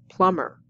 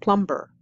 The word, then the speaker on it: plumber: Plumber, not plumber. The B is silent.